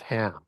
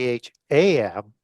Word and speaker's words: Ham: over to Egypt with Ham. Right. And so that word chem c h sometimes spelled c h a m is actually pronounced ham ham zerothustra.